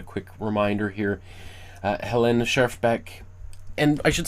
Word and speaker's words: Schjerfbeck: not speak Finnish and I have heard a little bit more of nuanced pronunciation of chef chef Bick and I hear also Helen. So maybe not Helen or Helena but Helen which again nuance.